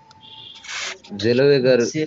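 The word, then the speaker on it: Zellweger: একটা ডিজিজ হয় ডিজিজের নাম দেখো দাগায় রাখো জেলওয়েগার সিনড্রোম কি নাম জেলওয়েগার সিনড্রোম উচ্চারণ বলো আমার সাথে সাথে জেলোয়েগার সিনড্রোম জেলওয়েগার সিনড্রোম কেন হয় লেখা আছে বোল্ড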